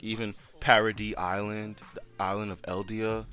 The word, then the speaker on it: Paradis: Like, obviously they want it to be a paradise, but it's a paradox because it's not a paradise. It's the complete opposite. But it's like, just taking away the E and just pronouncing it Paradis makes it so much cooler.